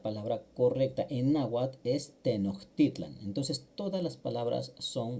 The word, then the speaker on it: Tenochtitlan: Tenoitlan. La ch no se pronuncia así de fuerte como en el español en nawat, sino que se hace como una h barrida o una j barrida o alargada.